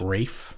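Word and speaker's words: Ralph: know how to say it I think it's Rafe Rafe thank you um from Harry Potter and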